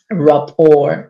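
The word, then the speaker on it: rapport: Rapour, you don't even say it like it's written and people don't know what Rapo is.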